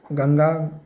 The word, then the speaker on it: गंगा: ठीक है, गेंजस कहते हैं, लेकिन गेंजस तो अंग्रेज़ कहते हैं। ठीक है, इनकी जुबान टेरी है, इसलिए गेंजस कहते हैं। हमारा जुबान तो ठीक है, वी can pronounce it very well, गंगा।